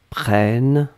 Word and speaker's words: prennes: prenne eux que tu prennes e s donc on est d'accord qu'on n'entend pas le s mais si vous voulez écrire correctement vous devez écrire avec le s à la fin pnn e s après